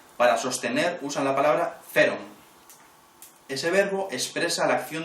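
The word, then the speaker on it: φέρων: palabra es ferom pH h e r o feron está escrita originariamente PH e con acento r o n feron esa es el verbo originario con el que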